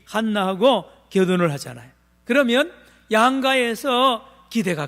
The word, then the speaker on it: 한나: 하나님과 한나 사이에 말입니다. 한나, 따라합시다. 한나. 지난 제가 발음을 한나라 그래. 한나. 이 히브리어 원어 발음으로 한나입니다.